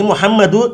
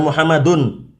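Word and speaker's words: مُحَمَّدُ: nah ini perhatikan ini muhammadu tidak boleh kita bacanya Muhammad dan ya Muhammadun Khan madu tidak boleh ditanwin juga kapan ini setiap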